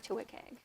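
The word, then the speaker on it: WCAG: use it okay so wick egg stands for web content accessibility guidelines um and it's commonly pronounced wick and they our guidelines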